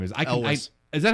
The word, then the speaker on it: Elwes: guy who played Carrie, whatever his name is, Elvis. Is that how I've never known how to say the guy's name. He just got cast in Stranger Things season 3. Oh, really? So it's Carrie Elwes.